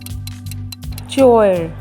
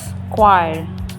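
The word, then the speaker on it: choir: है next word की चोयर क्या यह चोयर है नाउ इट्स स्क्वायर a group of singers next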